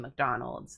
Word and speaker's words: McDonald's: the way you pronounce McDonald's C what do I say is that another thing I say weird I thought it was normal mcdonal why it's McDonald mc mc McDonald McDonald's